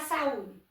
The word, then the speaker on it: saúde: Vamos analisar saúde. Saúde é um hiato, a gente já viu. Mas se a gente for procurar a sílaba tônica dela, tá em qual posição? Oxítona, paroxítona, proparoxítona. Então, ela é paroxítona.